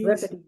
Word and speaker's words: Euripides: Euripides. Euripides. Okay. I always have trouble pronouncing that name.